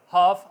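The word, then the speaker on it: half: एफ से पहले अगर ए जाएगा तो ल साइलेंट रहेगा काफिंडली सी ए ल एफ बोलने में कफ होगा हाफ आधा अल ठीक है हा ए ल एफ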